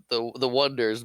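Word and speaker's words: Oneders: The wonders, but I Lenny leads into it.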